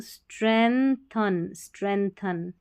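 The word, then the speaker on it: strengthen: स्ट्रेंथन यहाँ जी silent है, मजबूत करता है क्या, कॉन्सेंट्रेशन, CEN सेन, TIUN शन।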